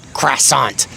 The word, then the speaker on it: croissant: So if a French person were to come in and say it's pronounced, not croissant sakayan in America, we pronounce it as croissant because we're not French.